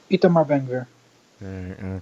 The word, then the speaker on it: Itamar Ben Gvir: Itamar Ben Gvir.